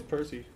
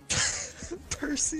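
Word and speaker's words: Purcy: Percy the 300 pound cat. Hey, it's spelt with a U. Okay? P U R C Y. Like purr.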